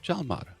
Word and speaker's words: Jalmar: And I want to introduce you to Sandra and Jalmar. Jalmar, I'm pronouncing your name Oh, right.